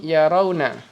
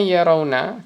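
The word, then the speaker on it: يَرَوْنَ: Ro'a yara yaroyani yarauna. Ya ingat itu dibacanya yarawna. Kenapa? Karena ro-nya tidak mengalami perubahan. Karena ro di situ bukanlah lamul fi'il, tetapi adalah ain fi'il.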